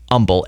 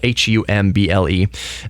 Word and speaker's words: Humble: We don't pronounce the H for the city. Humble, Humble.